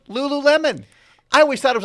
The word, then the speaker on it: Lululemon: I never knew it was pronounced Lululemon. I always thought it was like Lululemon. Well, how do you pronounce that word? She goes, no, it's Lululemon.